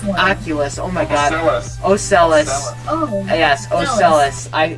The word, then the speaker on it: Ocellus: Ocellus. Ocellus. Oh. Yes, Ocellus. Why did I say Oculus? It's spelt weird on here. Okay, Ocellus. I knew that didn't sound right, and I was like, oh, okay.